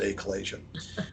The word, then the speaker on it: achalasia: And it's pronounced different ways, but I call it achalasia, or I pronounce it achalasia.